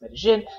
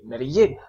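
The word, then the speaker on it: Medellín: this city, okay, because I've seen natives who pronounce Medellin, and I've also seen natives who say Medellin. So Medellin, I think they're both the same thing.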